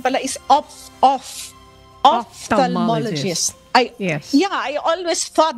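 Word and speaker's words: ophthalmologist: Pero ngayon ko lang nalaman Miss Annie, ang pronunciation pala is off offalmologist. I Yeah, I always thought that it was opthalmologist.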